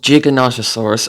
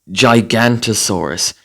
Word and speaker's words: Giganotosaurus: And it's called Giganotosaurus or Giganotosaurus. It has many pronunciations, but not Gigantosaurus.